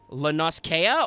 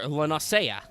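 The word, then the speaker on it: La Noscea: a good question chat do you think that's pronounced uh Lanas Kea or LA nasaya oh no oh no both are valid let's go because that sounds more ah but there's a double vowel at the end yeah but they always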